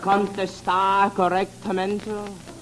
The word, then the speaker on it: correctamente: The R's. In Spanish, they must roll off your tongue. Listen to me. R con R cigarro, R con R barril.